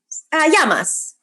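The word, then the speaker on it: Γειά μας: Yamas. Yamas.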